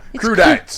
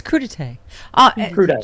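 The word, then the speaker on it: crudités: fact that there's been a vigorous twitter debate on how to pronounce it yeah crew dance it's crudites charlie okay so in the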